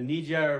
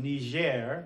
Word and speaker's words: Niger: Niger and Nigeria the Niger River and let's I'm using the French pronunciation Niger where the G is softer or Niger were the Germanic or English pronunciation Nigeria that's a place